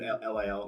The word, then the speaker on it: Lil: Little bit LIL. Yeah. Little Speakeasy. Did I pronounce the T that doesn't exist? It doesn't exist. Yeah. Lil.